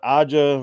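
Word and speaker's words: A'ja: off Liberty in that series um you got AA Wilson is that how you say it aa aa yes you you got her she's I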